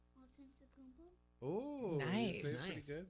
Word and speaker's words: Antetokounmpo: Antetokounmpo. Oh, you Nice. say it pretty Nice. good. Say it in there. How so many they can hear it. syllables is that? Antetokounmpo.